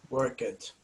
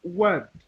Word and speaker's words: worked: Work it because it is regular verb. Excellent, excellent. So a lot of Brazilian people say work it, but it's pronounced worked.